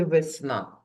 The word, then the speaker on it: весна: скільки складів у слові весна вірно два склади А зараз Іще раз промовимо це слово і визначимо наголос весна на який склад падає наголос на другий склад сна то склад сна буде наголошеним малята ось велика і мала